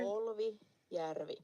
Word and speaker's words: Polvijärvi: The way to pronounce the stitch of the month. So it's called Polvijärvi. If you're a real Finlander. Polvijärvi.